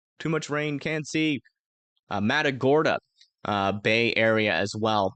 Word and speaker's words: Matagorda: here um south of Indianola uh near to madaga I that's what how you say it oh no too much rain can't see Matagorda uh bay area as well about to start